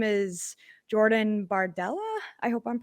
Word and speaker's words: Jordan Bardella: a 27 year old uh his name is Jordan bardella I hope I'm pronouncing that right and is that right Cindy